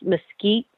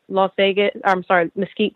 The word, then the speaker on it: Mesquite: And also just to, just even saying where he lived in, it's pronounced Mesquite, Mesquite, Nevada, which is north of Las Vegas.